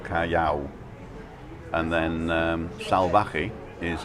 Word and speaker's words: Salvaje: ca and then um salvage is s a l v a j e so the v is spelt like a b and the j is spelt like an h so and it means